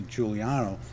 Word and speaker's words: Giuliano: not forgotten but until attorney Giuliano that's the correct pronunciation I'm Juliano correct yeah yeah good and until